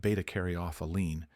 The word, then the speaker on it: β-caryophyllene: Betaaroene, pronounced betaarophelene, is the quiet power